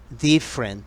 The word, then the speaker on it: different: Different, different, diferente. Ojo con la pronunciación. La E después de la F no se pronuncia de una sola.